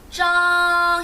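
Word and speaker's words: 章: 장은 정 해주시면 되고요.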